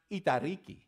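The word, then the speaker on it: εταιρική: The Greek word is, I'll spell it for you, E-T-A-I-R-I-K-I. It is pronounced itariki. Say that, that one's fun to say. It's my favorite. Itariki, right?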